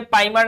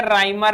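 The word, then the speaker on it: Reimer: हुआ है, Claisen rearrangement, अच्छा ये पाइमर नहीं है, राइमर है, राइमर टाइमन reaction, Friedel craft reaction, fries rearrangement और रिफॉर्मेट्स की।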